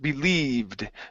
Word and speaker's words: believed: Okay, let's go to the word believed. Pronounce an ED ending here.